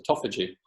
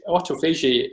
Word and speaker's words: autophagy: Well, it depends on which side of the pond you are. It's autophagy on this side of the pond, autophagy on the other side of the pond.